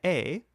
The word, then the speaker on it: est: La femme est, spelled E-S-T, but don't pronounce the S or the T, dans la cuisine.